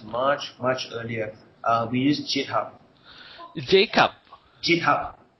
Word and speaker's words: GitHub: We use GitHub. Jacob. GitHub. How do you spell that?